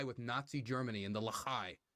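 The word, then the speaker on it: Lehi: Nazi Germany and the Lahai, right? I can pull any amount of Israelis from Israeli. Ah, shit. I've been pronouncing it Lahi. I guess it's Lahai.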